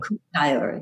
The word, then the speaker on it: Kuuk-Thaayorre: I'm really interested in this, how do you pronounce it? Kuuk-Thaayorre people. Kuuk-Thaayorre, yeah. The Kuuk-Thaayorre people.